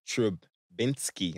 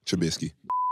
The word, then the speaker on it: Trubisky: Trubinsky. I said it right, right? No, Trubisky.